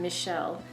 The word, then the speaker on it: Michel: is by Michele Faber I think you pronounce his first name Michele and it is called